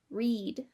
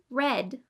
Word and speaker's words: read: As you can see, the pronunciation is quite different, with the present tense using a long E sound, like read, and the past tense using the short E sound, like read.